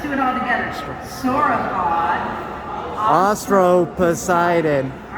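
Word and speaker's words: Austroposeidon: How do you pronounce this? Okay, this is it's a sauropod, and it's a kind of sauropod called Ostro-Poseidon. So, can you say sauropod? Sauropod. Sauropod. And it's a sauropod called Ostro-Poseidon.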